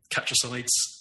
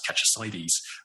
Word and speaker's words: Catchesides: Community around here and lots of people assume it's pronounced catches um where it's just